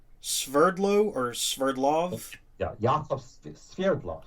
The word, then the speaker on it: Sverdlov: Yeah, Yakov Sverdlov. Sverdlov is the actual pronunciation of my name, but of course in the United States they don't know how to say it.